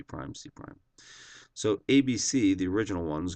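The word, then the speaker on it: C′: marks above them and we pronounce that c prime that's how you say the c with the tick mark c prime so triangle abc reflects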